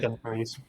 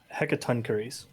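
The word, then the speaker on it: Hecatoncheires: into the ring with two, and someone please pronounce it because I never get this right. Hekana. Hecatoncurries. What was that? Say that again? Hecatoncurries.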